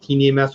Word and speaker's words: KineMaster: I think it's pronounced KineMaster. It's KINE.